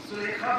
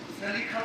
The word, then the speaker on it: زلیخا: تو زلیخا کہتی ہے، زلیخا بھی پڑھتے ہیں، لیکن اہل علم زیادہ تر اس کے تلفظ زلیخا کی طرف متوجہ ہے۔ تو زلیخا پہلی بار